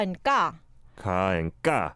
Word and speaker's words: 까: I feel like the 쌍기역 comes more from the back of the throat. There's like a coming together of your throat somehow, and they go ga as opposed to ka.